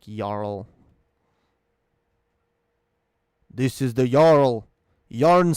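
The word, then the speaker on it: jarl: uh circumstances and oh it's the norse pronunciations okay yarn like yarl this is the yarl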